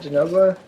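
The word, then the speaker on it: Zinogre: first time I was on, we killed some Jinoga. Is that how you say it? Jinoga?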